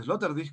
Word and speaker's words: Sloterdijk: En Crítica a la razón cínica, Peter Sloterdijk, o Sloterdijk, como se pronuncia, plantea que, por ejemplo, uno de los